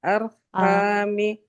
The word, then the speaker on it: arhami: Nah, ro sukunnya harus tebal. Ya, arhami.